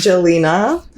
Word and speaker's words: Jelena: So my social is yelena.nyc, which is spelled with a J, which makes my name so complicated. So, it's Jelina.